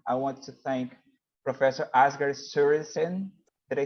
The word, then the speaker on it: Asger Sørensen: I want to thank Professor Asger Sørensen. Did I say it right? Yes, that's actually very close to how we would pronounce it.